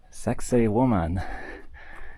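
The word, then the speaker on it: Sacsayhuamán: Uh but this is a old Inca heritage site called Sex Woman. It sounds exactly like you hear it. It's spelled a little bit differently.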